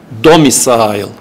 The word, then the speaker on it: domicile: Yani oradaki syllable sayısı da öyle belirleniyor. Domicile.